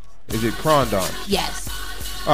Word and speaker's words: Krondon: I don't know how to pronounce his name. Is it Krondon?